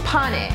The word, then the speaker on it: pane: It's called pane. So from now on we're gonna call this pane while we're cooking. Does that sound good? Yeah. Okay, how do you say it? Pane.